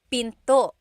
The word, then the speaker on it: pinto: Door in Tagalog is pinto. Pinto. And remember, don't forget the glottle stop. Don't forget to stop the sound at the end. That's called a glottle stop. Pinto.